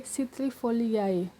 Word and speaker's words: citrifoliae: Jika kalian lihat ketentuan yang pertama, jika ada huruf AE itu dibaca dengan E. Nah, ini contohnya, jika kita lihat di contoh sebelumnya itu ada mengkudu. Di sini tulisannya adalah Morindae citrifoliae. Jadi dengan ketentuan pertama tadi, AE itu dibaca E.